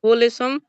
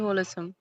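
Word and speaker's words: wholesome: is plentiful and very होल समम होल समम होल समम होले समम नहीं होल समम होल सम बोलिए ही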